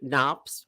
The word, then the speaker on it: Knops: I have the the Knops, where the M is silent, not on my pond.